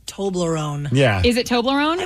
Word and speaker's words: Toblerone: T-O-B, right? Tob. How do you say Tom? How do you say Toby? Toby. Tom Toblerone. That's not crazy. Wait, you're using your argument is based on a T-O-M, but it's a T-O-B. Yeah. So it's like Toby. Toblerone. If it was Tom Lerone, then yeah, it would be Tom Lerone.